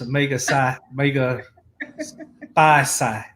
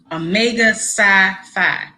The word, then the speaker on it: Omega Psi Phi: Omega Psi Psi. Omega Psi Phi.